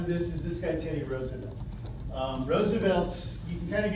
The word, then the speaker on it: Roosevelt: If you really are a stickler for this, his family line of the Roosevelts pronounced the name Roosevelt, so he would call himself Teddy Roosevelt, whatever.